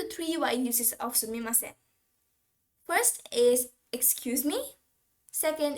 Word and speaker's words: すみません: be like okay and some people also pronounce the last sound as n while some pronounce it as m so they be like sumimasem sumimasen it can be either